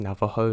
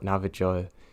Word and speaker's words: Navajo: everybody loves them and yes I'm fully aware that it's pronounced Navajo not Nava joy it's because I've spent